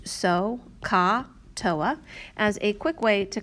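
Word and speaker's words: SOHCAHTOA: teacher had shown you this acronym that is pronounced so ka toa as a quick way to kind of remember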